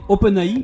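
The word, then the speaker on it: OpenAI: termine les news avec open a pour le prononcer à la française qu'on ne présente plus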